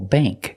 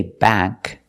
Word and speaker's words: bank: like plate and date example Bank we don't say bank it's not a like black cat bank it's Bank bank use the long a sound this is a bank